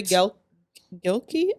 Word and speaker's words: Gilkey: Corey Gilkey. I don't want to mispronounce his last name. It's Gil Key, like Key.